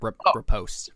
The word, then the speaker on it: riposte: Riposte. Post. Riposte. Really? That's how you Yes.